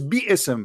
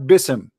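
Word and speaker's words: بسم: It is biism, not bism.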